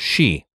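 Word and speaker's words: sidhe: City but it everything you look up it's pronounced she so yeah and we say you know it's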